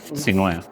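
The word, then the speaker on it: Sinuhe: So, but that's how I ended up with Sinue. Yeah. Which is it's an Egyptian name. It's Sinhue. Yeah, there's an H in there, which is why I thought it was Sinhu too.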